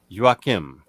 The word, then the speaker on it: Joakim: joakim there you go joakim that name reminds me of how we would pronounce uh joaquin in spanish but i know there's an m there so i'm not even